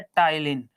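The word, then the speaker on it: ptyalin: enzyme पाया जाता है जिस एंजाइम का नाम है टाइलिन टाइलिन में पी साइलेंट होता है तो स्टार्च को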